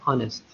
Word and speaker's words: honest: لاحظ إني نطقتها honest. أوكي، فإذا نفس الشيء أستخدم معها an. إذا عبرة في النطق وليس بالكتابة، ولا الكتابة تبدأ بحرف H. إن تنطق هذا حرف صامت فين تنطق honest hour.